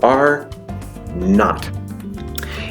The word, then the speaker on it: R-naught: Rather, it is the letter R with a little zero by it, and that zero is pronounced not. So R-naught.